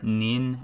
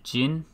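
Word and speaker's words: 人: character which means person the onyomi readings are nin and jin the reason there are separate ones is because they came from different time periods and for kunyami the japanese readings we have hito and now the typical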